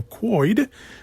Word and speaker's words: McQuoid: a big step this week as director simon mcquoid that's how pronounced last name we'll be coming back to direct mortal kombat 2.